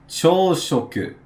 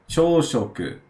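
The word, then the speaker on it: 朝食: So here we have chōshoku. Chōshoku. So, chō is another way of pronouncing this kanji, which we pronounced as asa earlier.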